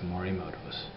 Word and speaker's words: Morimoto: It's Morimoto's.